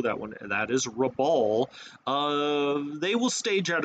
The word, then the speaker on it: Rabaul: Now, Truk can be a staging base for the Japanese to launch down to, uh, Rab- it's Rabaul. Rabaul, I've been saying Raboul and I do apol- I know that upsets a lot of people when you mispronounce the name or something.